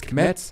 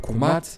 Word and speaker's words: Kemet: around the Nile River, pronounced as Kemet or Kumat in ancient Egyptian.